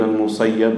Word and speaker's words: Musayyib: of Sa'id ibn al-Musayyib, with the kasra, both correct to pronounce. Sa'id ibn al-Musayyib or Musayyib.